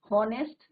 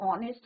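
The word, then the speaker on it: honest: हॉनेस्ट नहीं होता है, इट इज योर ऑनेस्ट होता है।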